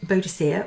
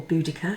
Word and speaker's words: Boudicca: divination techniques now quinbo queen bodacier or boudicca however you'd like to say her name obviously depends on her age because i think it changes i think my generation used to say beaujoc but now it's boudicca anyway she prayed to